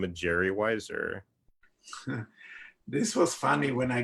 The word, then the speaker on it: Weiser: didn't have to change my last name Weiser because it's very similar to Budweiser so everybody knows how